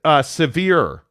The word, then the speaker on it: Sevre: Sevre says, morning, FYI, since we're on the trend of pronouncing names correctly, my last name is Severe.